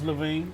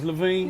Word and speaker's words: LaVine: Never heard of Zach LaVine from the Chicago Bulls. It's LaVine. You better get me right. It's LaVine. You better get me right. See, the L is silent. The L is silent. It's LaVine.